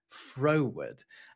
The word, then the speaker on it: froward: So not forward, it's spelled very similarly, just swap a couple of letters around. Froward.